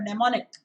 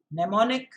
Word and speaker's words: mnemonic: You can use this as a sort of a mnemonic. Mnemonic, M-N-E, M silent, okay? M-N-E, mnemonic, M-O-N-I-C, mnemonic, with a silent M at the start. M-N-E-M-O-N-I-C, mnemonic, an idea to remember things quickly.